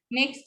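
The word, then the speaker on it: knock: Next is Geto. K is silent in these words. ठीक है, ये तो हम बहुत कॉमन वर्ड्स हैं जिनमें K साइलेंट होता है. जैसे नी, नॉब, नो, नॉक and knife.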